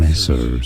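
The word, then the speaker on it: Messrs: say this curious word messers m messers stress on that first syllable me so it is messers I'm saying that right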